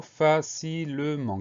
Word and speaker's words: facilement: 4 syllabes, première syllabe fa, F-A, deuxième syllabe si, C-I, donc le son s'obtient avec la lettre C. Syllabe suivante, le L-E, et enfin dernière syllabe, ment, M-E-N-T, donc le son en C-E-N, et à la fin on a une lettre muette, c'est le T muet.